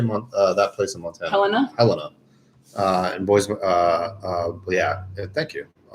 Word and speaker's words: Helena: Helena.